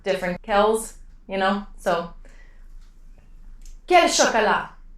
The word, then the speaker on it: quel: So in this case, you would say quel, all pronounced the same way, but quel with Q-U-E-L.